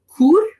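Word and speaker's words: Chur: Then I went back down off my mountain to Brig and I took the train over to Kur, which we now know again from your podcast that's how we pronounce it because the Glacier Express has food served on it all the way from St.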